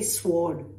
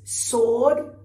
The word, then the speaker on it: sword: Sword. That's a nasty one. A lot of people say sword. That's wrong. I hope you remember this in future. It's sword.